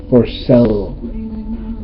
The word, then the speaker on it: Porcello: That's the one thing, and I'm not calling Dean Montello but when you mispronounce a pitcher's name wrong, it's Rick Porcello.